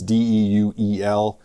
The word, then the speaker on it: Deuel: In fact, eastern South Dakota, I think it's pronounced Duel County. It's Deuel.